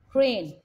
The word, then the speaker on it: crane: Here the A is making the long A and E is silent. Crane.